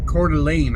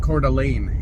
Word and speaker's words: Coeur d'Alene: me with the pronunciation they said their co-worker pronounced it Coeur d'Alene I think Coeur d'Alene is what they said that makes sense it seems like there's an extra vowel in there when you pronounce it that way or you're skipping